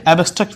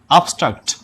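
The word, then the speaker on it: abstract: Noun প্রধানত দুই প্রকার, একটা হচ্ছে কনক্রিট নাউন এবং অপরটা হচ্ছে অ্যাবস্ট্রাক্ট নাউন, যার শুদ্ধ উচ্চারণ হচ্ছে আবস্ট্রাক্ট নাউন।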